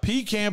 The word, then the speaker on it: pecan: color pecan what color pecan pie how do you spell it hey just because you spell it like that don't mean you say it like that bro pecan pie pecan pecan